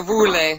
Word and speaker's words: Woerlee: Is that how you pronounce it? Yeah, Woerlee. Woerlee.